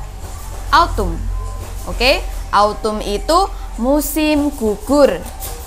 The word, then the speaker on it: autumn: panas kemudian musim yang ketiga Autumn Bagaimana cara bacanya Autumn Autumn Oke Autumn itu musim gugur jadi bunga-bunga itu